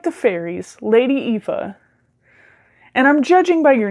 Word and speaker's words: Aoife: But if you have an appreciation for Irish folklore, and Aoife is essentially the Irish pronunciation. When an A and an O sit next to each other like that, they make like an E sound, which could have just